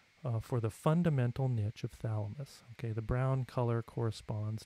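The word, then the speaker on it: Chthamalus: which is an awfully strange spelling but it's pronounced thalamus and balanus these are two different species of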